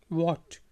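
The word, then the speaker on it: what: Europe क्या व्ट व्ट व्ट एच जो है यहां पर साइलेंट है चुप है इसलिए इसको पढ़ेंगे व्ट ठीक है जी क्या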